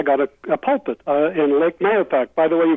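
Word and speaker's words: Mahopac: I graduated I got a pulpit in lake manapac by the way you pronounced it exactly right okay you pronounced the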